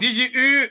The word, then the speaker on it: DigiU: que la prononciation disons la meilleure prononciation française c'est dit J u donc pour dire digital you qui me dit tout simplement l'être humain en version digitale et donc DJ U est un écosystème de